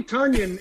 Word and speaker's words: Tonyan: Bobby Tonyan is, and we say it Tonyan now, fellas.